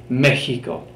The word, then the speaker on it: Mexico: You can hear the pronunciation is a lot like the letter J in that it's a hard H burst of air, Mexico.